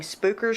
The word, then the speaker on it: Spooker: Inside, new You're not saying it right. You got to say it like you're from the area. You act like you ain't ever been down to the southern part of Missouri before. It'd be spooker. Spooker.